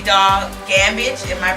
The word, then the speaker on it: Gammage: our guests gospel artist rapper Dog gambage in my pronouncing your name correctly it's excellent awesome awesome